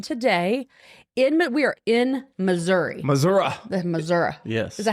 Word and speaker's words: Missouri: Missouri. Missouri. Yes. Is that how you say it? That's how Missourians say it. Missouri. I'm not from Missouri, so we're going to say it Missouri.